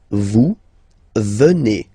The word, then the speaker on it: venez: Okay, then classic ending for vous, Z here, and then you pronounce it et, vous venez.